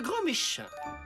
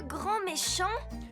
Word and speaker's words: Grand Méchant: votre professeur remplaçant monsieur grand Méchin veuillez prendre place il est où Monsieur Ernesto attendez vous vous appeler monsieur grand méchant ça se prononce grand méchant et ça sera au